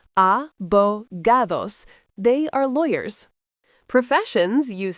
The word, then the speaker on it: abogados: Sonogados pronounced abogados.